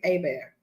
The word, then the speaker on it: Herbert: You pronounce the Herbert Abear.